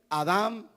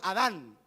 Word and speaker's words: Adam: se escribe igual Edén Adam Adam Adam sabe quién era Adam en español le pusieron Adán pero el nombre original no es con n su nombre original es con m Adam y Qué significa Adam